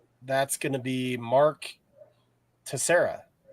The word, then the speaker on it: Teixeira: So that's going to be Mark Teixeira, right? Is that Teixeira, how you pronounce it? Teixeira.